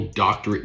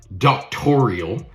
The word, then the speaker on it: doctorate: You would think if you had an actual doctorate degree that you'd be able to pronounce the word properly. It's not doctoral. It's doctorate or doctoral.